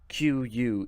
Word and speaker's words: queue: people waiting for it it's spelled qu e ue so you can take four letters off that word and you would still pronounce it the same q its I don't understand